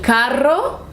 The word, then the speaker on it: carro: The only difference is that one has double R, one has one R, but they mean different things. So you have to pronounce it correctly. El carro, or está muy caro, expensive.